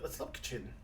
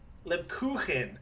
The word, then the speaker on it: Lebkuchen: Let's look kitchen. Lebkuchen.